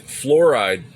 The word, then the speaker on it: fluoride: Speaking of Hitler, 1939, Sigmund Freud, fluoride. It doesn't rhyme with Florida, but it's the same exact word in Greek.